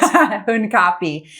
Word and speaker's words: Hunkapi: Hunkapi.